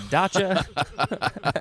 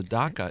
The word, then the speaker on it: dacha: a date to the dachau i don't know so i uh think of this as uh pronounced as da daka as a daca but the pronunciation is dacha yeah it shows the